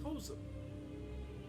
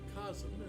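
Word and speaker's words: Kos: This is one of the few times Kozum, or Kazum as some pronounce it, and otherwise known as formerly Ronnie.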